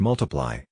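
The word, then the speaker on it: ×: with Elton John his second studio album X pronounced multiply was released in June 2014 it peaked at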